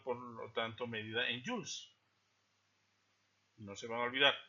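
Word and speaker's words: Joules: energía fotónica siendo por lo tanto medida en Jules no se van a olvidar se escribe J o u l e s j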